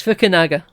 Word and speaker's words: Fukunaga: Oh, did I put a W in there? You did put a W in there. It's Fukunaga.